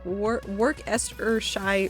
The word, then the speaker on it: Worcestershire: Worcestershire sauce is the correct way to say it, I think.